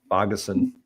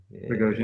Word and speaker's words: Bogosian: Is Bogason from Minnesota, Mm-hmm. $2,600. Bogosian. Yeah. Mm-hmm. I pronounce all these guys' names wrong.